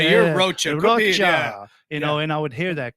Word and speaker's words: Rocha: Rocha. And I would hear that cockroacha. I would hear Rocha. Eventually, when I eventually got to the point where I'm like, you know what? It does rhyme with mocha.